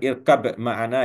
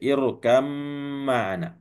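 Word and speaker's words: ارْكَبْ مَعَنَا: Jadi bukan irkab ma'ana ya, membacanya irkam ma'ana, ya.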